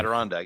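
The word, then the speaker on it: Adirondack: Aderondag.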